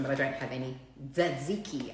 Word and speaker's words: Tzatziki: Tzatziki, apparently the T is silent.